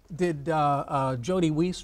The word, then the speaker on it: Jody Weiss: So, did Jody Weiss, Rhymes with Peace, deserve that 76 grand that he got for his vacation pay?